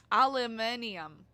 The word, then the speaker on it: aluminium: And why do the British say aluminum like there is an N? Aluminum. Where would the N be?